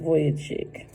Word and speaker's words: Vujicic: Yeah, Vujicic. All right, pronounced Vujicic.